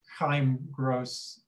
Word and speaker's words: Chaim Gross: And I was told by my very first visitor at the museum that this artist is pronounced Chaim Gross, a Jewish name.